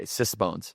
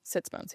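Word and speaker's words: sitz bones: Okay. Sisbones. Sitsbones. Yeah. Sitsbones like for sitting. Sitsbones. Si TZ. That's how I spell it.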